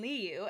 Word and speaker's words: Liu: A lot of wordplay between you and Liu, and he even says, I'm Liu, and so it helps on pronunciation if people didn't know how to say his name.